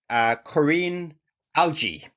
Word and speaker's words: Korinne Algie: A little bit more today, and I'm delighted to have our guest, Korinne Algie. I'm glad I said that. I'm so nervous. Can't get your name wrong.